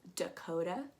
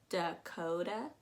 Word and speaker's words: Dakota: north and south dakota dakota if you haven't seen our episode on d totally check that out because that's exactly what we're using on that t sound um dakota and that a sound is that u kind of sounding a going down